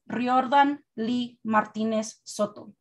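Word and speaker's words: Riordan Lee Martínez Soto: know my name is riordan lee martinez soto roll your r's get that acento right don't come at me with your gringo version because you can't be bothered to learn i break the boundaries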